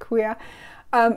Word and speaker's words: Ku'ia: Now I'm all convinced I'm pronouncing everything wrong. That's correct, Ku'ia.